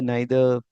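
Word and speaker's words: neither: अब यही होता है नीदर नाइदर।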